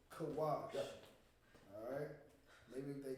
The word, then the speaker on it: Cush: Now we're doing Cush, which is pronounced in the Hebrew, Kawash. Kawash.